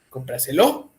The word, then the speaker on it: cómpraselo: me corrijas se lo dónde radica la mayor fuerza de voz cómpraselo cómpraselo cómpraselo cómpraselo cómpraselo No acá está cómpraselo no es en la última no es en la penúltima no es en la antepenúltima es en la tras antepenúltima ese tipo de palabras